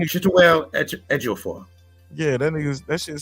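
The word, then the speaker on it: Chiwetel Ejiofor: Chituel Ejiofor. Chituel Ejiofor.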